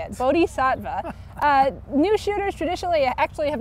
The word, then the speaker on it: Bodhisattva: Now, real quick, before we go, new shooters in the race, Divining Rod, you've got, pronounce the horse's name. Bodhisattva. He knows how to say it. Bodhisattva.